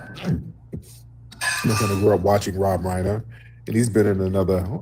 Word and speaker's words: Reiner: Um, first, you know, I got to give a RIP to um actor and director Rob Winer. Yeah, Rob Winer. Rob Reiner. I'm up here giving the mispronouncing the man's name.